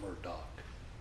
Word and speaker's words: Murdaugh: it is our honor to represent out of Murdoch and we're doc depending on how you pronounce it I say it's our honor because